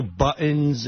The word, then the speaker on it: buttons: It's buttons. T. You got to say a T.